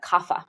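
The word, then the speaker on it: Kapha: In the US we pronounce that kafa or in the west we pronounce it kafa.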